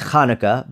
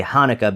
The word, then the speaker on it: Hanukkah: It's Hanukkah, but in English you say Hanukkah because the qha doesn't exist here.